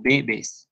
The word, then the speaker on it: bebes: Y ya no va la acentuación en la última sílaba, sino en la primera. Tú bebes, bebes.